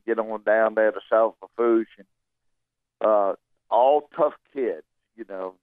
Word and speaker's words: South Lafourche: Is it South Lafourche? Is that how you say it, Tommy? That's it, South Lafourche.